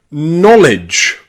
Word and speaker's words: knowledge: And it's also pronounced o in the word knowledge. Knowledge.